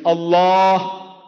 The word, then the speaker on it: Allah: l a h is Allah not say say Allah all of you say Allah Allah see not Al but you can write a l h but don't say Al say Allah Allah so she L Jesus